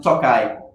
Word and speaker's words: Tokaji: Wines, you pronounce it Tokaji.